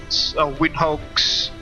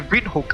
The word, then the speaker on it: Windhoek: Uh we are currently sitting at uh the capital city Winhoks sorry Vinhook I think that's how it is pronounced Vinhook's uh Jose International